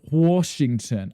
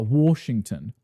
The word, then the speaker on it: Washington: People say my state. Washington. I hate it. With an R. Washington.